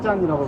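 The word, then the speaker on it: 站: 그 가운데 그 역자는 우리는 역자를 따서 기차역으로 붙이고, 중국은 뒤에 참자를 따가지고 중국 발음은 짠이라고 발음합니다.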